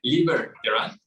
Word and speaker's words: Liber Terán: Estoy pronunciando bien tu nombre, Liber Terán. Liber como libertad, Terán como se escucha.